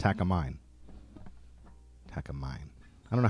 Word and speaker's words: Takamine: Takamine. It's not Takiyours, it's Takamine.